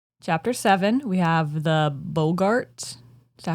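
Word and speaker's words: boggart: seven we have the bogart is that how you say it I think it's yeah I think it's Bogart Bart Bogart like Bogart like Humphrey the Bogart in the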